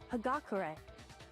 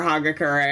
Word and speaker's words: Hagakure: said his last name hagakure oh that's how you pronounce that okay I'll never remember I've been calling him for like forever so he's forever haga Curry I apologize I'm sure